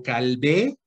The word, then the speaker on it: Calvé: L-E-G-G guión Calvé, así como yo, pero Calvé, con acento en la E, Leg, guión, Calvé, guión, Pertes, Pertes como suena, Pertes, nada más que es Perces.